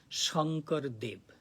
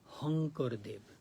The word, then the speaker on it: Shankar Dev: that part of India called Shankar Dev. But in Assamese language, they pronounce Hankar Dev. Sha, they pronounce as Ha.